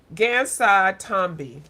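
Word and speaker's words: Gansai Tambi: Hold on, I keep saying the name wrong. I call it Kuretake, and it's Japanese watercolors, y'all. Kuretake Gansai Tombi.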